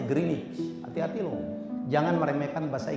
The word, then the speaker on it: Greenwich: bromich orang GMT aja bukan Greenwich Pak bacanya greenich hati-hati loh Jangan meremehkan